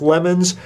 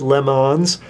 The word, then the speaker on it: Le Mans: Now it looks like lemons. They pronounce it Le Mans.